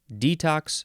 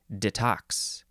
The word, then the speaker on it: detox: is a noun oh you can emphasize either syllable detox or detox noun from 1973 one